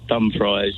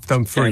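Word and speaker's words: Dumfries: so just driving back Dum fries and then dum dum fre St tomorrow don't don't say fries to a local because they won't have any idea what you're talking about no they can't understand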